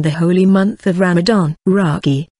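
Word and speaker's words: rakı: holy month of Ramadan ragi pronounced RAC is a most popular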